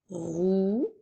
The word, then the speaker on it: rouge: adjectifs alors commençons par la couleur rouge qui s'écrit r o u qui fait le son ou G qui fait le son J et la lettre E pour faire rouge comme dans la phrase